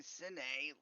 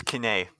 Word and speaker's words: Kine: I was thinking Cine, like cinder. No, it's Kine, which in Scottish lore actually means born of fire.